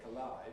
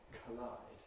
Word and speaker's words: collide: I say collide and not collide.